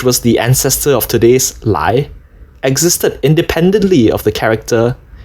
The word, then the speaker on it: 来: A good example of this is this character (来), pronounced lái in Mandarin, which looks like this in Traditional Chinese (來) and like this in the Oracle Bone Script, 甲骨文: (來 , n.d.)